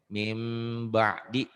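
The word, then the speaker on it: مِنْ بَعْدِ: Bunyi n-nya berubah menjadi m. Tapi pengucapannya agak bindeng. Ember. Jangan ember, ember. Mim ba'di, mim ba'd.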